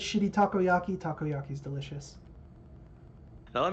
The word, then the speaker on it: takoyaki: is being the uh takoyaki I I don't know if I'm pronouncing that one right you got it takoyaki man yeah takoyaki is